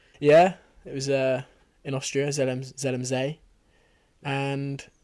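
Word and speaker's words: Zell am See: Yeah, it was in Austria, Zelmzee. And... Is that how you pronounce it? Yeah. Oh. ZMC. I thought it was ZMC. Zelmzee. Zelmzee.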